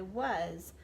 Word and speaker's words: was: our tricky words because it is pronounced differently than the way that it looks like it should be pronounced we're gonna read the